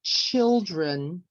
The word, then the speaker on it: children: syllables not so strong so let's look at the word children when we say the word children which syllable has the stress on it if you can write the answer in the chat box okay we say children the syllable is on the or that is on the first syllable we don't say children